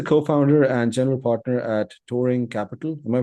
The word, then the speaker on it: Touring Capital: So, Samir is a co-founder and general partner at Touring Capital. Am I pronouncing that right?